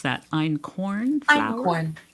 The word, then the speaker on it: Einkorn: How do you pronounce that? Einkorn flour? Einkorn.